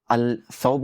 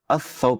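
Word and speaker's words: الثوب: तो आप यह नहीं कहेंगे अल तुर्की आप कहेंगे अ तुर्की अल सौब नहीं कहेंगे अऊब कहेंगे अल दर्स नहीं कहेंगे अदर्स कहेंगे तो आप पूछेंगे कि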